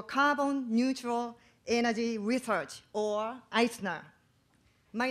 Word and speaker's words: I²CNER: research wha I square the CME Oh pronounced Eisner of kiss University I